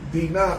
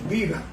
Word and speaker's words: Diná: por venganza por haber violado a su hermana Diná, que se pronuncia así en hebreo, pero castellanizándolo decimos Dina.